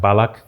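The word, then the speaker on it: mbalax: It's spelled MB A L A X, but it's pronounced balac.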